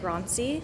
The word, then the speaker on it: Grancy: She lives and works between Berlin and Grancy. Is that how it's pronounced? Grancy, yeah.